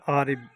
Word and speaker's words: عارب: بسم اللہ الرحمن الرحیم۔ السلام علیکم۔ نام ہے عارب۔ عارب نام کے انگلش میں سپیلنگ ہے ARIB، عارب۔ جنس عارب نام کی